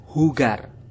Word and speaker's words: jugar: penyanyi Mike Jagger jadi kata hugar yang tulisannya adalah jugar kita samakan dengan Mike Jagger untuk pengucapannya ingat sahabat poliglot bahwasanya J itu dalam bahasa Spanyol akan dibaca H jadi untuk pengucapannya hugar bermain dalam bahasa Jepang